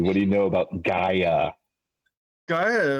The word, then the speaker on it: Gaia: Something about Gaia. Gaia? Yeah. Really? That's how you say it. Gaia. Gaia? Not Gaia. It's Gaia.